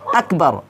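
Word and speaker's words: أكبر: বা র জবর বার আকবর নাকি এখানে আকবার আমরা অনেকেই ভুল করে থাকি এখানে কি বলি আকবার বলি তো এখানে আকবর বলা যাবে না এখানে কি বলতে হবে আকবার আকবর কাফটা কি করতে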